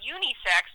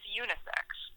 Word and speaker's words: unisex: He pronounces it unisex, but it's unisex. Oh, she's giving emphasis on the I.